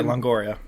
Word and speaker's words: Longoria: Who, Eva Longoria, is that how you say her name? Yeah, Longoria. Eva Longoria.